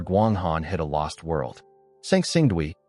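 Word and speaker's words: Sanxingdui: Sangsingdui, pronounced Sanxingdway.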